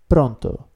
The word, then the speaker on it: pronto: call or call someone don't worry if you can roll your R just yet and traill your tongue that will come later but remember this word